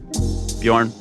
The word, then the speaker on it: Björn: the thing is it's it's Swedish letter so it's uh it's BJ like learn bej yeah got it okay